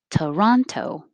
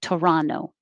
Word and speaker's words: Toronto: montreal montreal toronto toronto and you will also hear it without the t at the end like toronto because when the t comes after the n and the unstressed syllable you can drop it same for number